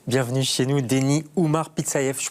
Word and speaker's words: Pitsaev: Bienvenue chez nous, Denis Oumar Pitsayev, je prononce bien, j'espère, hein, oui.